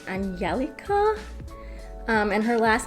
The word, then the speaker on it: Angelica: calls herself angie but i believe in swedish it's pronounced angelica and her last name